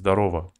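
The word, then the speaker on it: здорово: all pronounced like Alex Zdarova. It's written Zdarov, but they write it like they read it like Zdarova.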